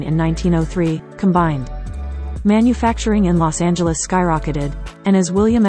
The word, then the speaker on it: Los Angeles: Previous to the 1950s, Los Angeles' name had multiple pronunciations, but the soft G pronunciation is universal today.